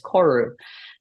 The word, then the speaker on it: Koru: Maui word and and the easy way to pronounce is koru um and I chose